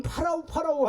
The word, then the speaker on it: 파라오: 여러분 파라오 하잖아요. 들어보셨죠? 이게 이제 한국식으로 발음해서 바로라고 얘기하는데 파라오예요. 파라오가 뭐죠?